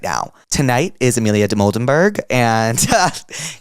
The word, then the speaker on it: Dimoldenberg: Today we have the legend Amelia de Moldenberg.